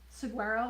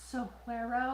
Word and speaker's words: Saguaro: A lot of people were saying how sweet my mom was in the Saguaro, which is actually pronounced Saguaro.